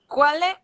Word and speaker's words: quel: Quelle est votre date de naissance? Quel, QU c'est K, quel.